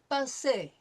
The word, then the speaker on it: passé: Every time we see an E with an accent aigu over it, it is going to be pronounced A. Le passé, composé, right?